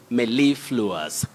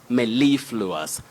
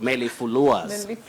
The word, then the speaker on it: mellifluous: One thing that you should be aware of is we have a primary stress on the second syllable. You say mellifluous, mellifluous, not mellifluous.